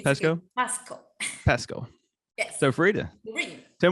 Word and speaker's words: Pasco: Is it Pasco? Is that how you pronounce it? Yes. It's Pasco? good. Pasco.